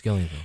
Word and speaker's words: Gillian: is an adaptation of Gillian flynns did I pronounce that right yes Gillian best seller sharp objects Amy Adams plays Camille